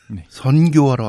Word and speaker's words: 선교: 지식을 전파하기 위해서 나오셨습니다 발음 잘해야 되는데네 선교하러 왔습니다 선교 선교 선교네 아 이응 아니고 아 이응 하면 큰일납니다 실제로 카톨릭에서 일이 있었어요